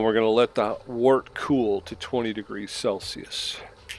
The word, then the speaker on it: wort: hop off, cool our wort. I keep saying wort. I guess it's pronounced wort. W-E-R-T.